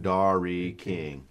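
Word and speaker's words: Dari King: It's like pronounced dairy. Right. But it's the way it's spelled. It's like dash is D-A-R dash I dash King. Dairy King.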